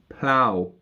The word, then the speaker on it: plough: P-L-O-U-G-H. Plough. Beautiful words to pronounce because we go from join to Q and then plough. Totally different pronunciations. Plough, as in plowing the field.